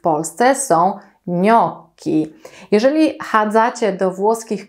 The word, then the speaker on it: gnocchi: widelca Jak wymawiamy wnioski wyraz ten zapisujemy przez GN ja o tym połączeniu Już wam kiedyś opowiadałam czytamy to jak ni mięciutko cecha natomiast czytam jak k gnocchi to prawidłowa wymowa nie mówicie więc gnocchi nie mówicie gniotki nie mówicie nie o ci Pamiętajcie gnocchi ewentualnie Minionki